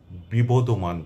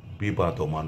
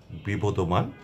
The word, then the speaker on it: বিবদমান: এ অঙ্গনে আসতে চান তারা সবাই বিপদমান পড়বেন কোন অবস্থাতেই বিবাদমান নয় যদি স্ক্রিপ্টে লেখাও থাকে আপনি সেটা সংশোধন করে বিপদমান পড়বেন তাহলেই সঠিক উচ্চারণটি হবে।